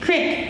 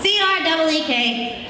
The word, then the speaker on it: creek: Creek, crick, creek. Well, I blew that one. C-R-E-E-K should be pronounced creek. A crick is literally a pain in my neck.